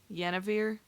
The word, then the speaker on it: Yennefer: Yennefer? Yennefer.